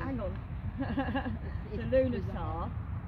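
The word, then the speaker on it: Lughnasadh: The Lunasar. It's a very long word, but it's pronounced Lunasar.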